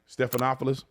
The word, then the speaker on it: Stephanopoulos: I think that's how you say his name Stephanopoulos Stephanopoulos that interview and then he's going around